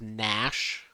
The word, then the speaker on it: Gnash: So my character's name is Nash, like spelled like the gnashing of teeth.